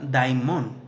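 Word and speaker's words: δαίμων: Demonio se pronuncia daimon, con el numeral 1142 en la Strong Concordance, que quiere decir un espíritu condenado, un espíritu juzgado.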